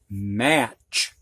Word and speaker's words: match: end of a word it almost always has T in front of it which is silent you don't you don't hear it so it's just the same sound and this is match which is something you